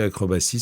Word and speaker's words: acrobatie: Acrobatie, le S de acrobatie s'écrit avec un T.